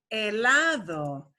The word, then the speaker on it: helado: don't pronounce that age we only pronounce the H when it's in the combination of ch that's the only time